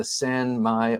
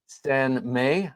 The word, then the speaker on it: sanmai: If you look at the spine, you can see it's a Sanmai or Sanmei, I think is how it's actually pronounced in Japanese, style blade.